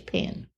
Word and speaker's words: paean: song mhm and it's is that pay I I believe so I haven't heard a lot of people ever pronounced that but p a e a n yes I I think it's pen mhm so that didn't